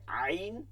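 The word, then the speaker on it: عين: করে তো যাই হোক যে পর্যন্ত গেছি এরপরে আইন এই উচ্চারণটা একটু জটিল এটা আমাদের আরবিতে করতে হবে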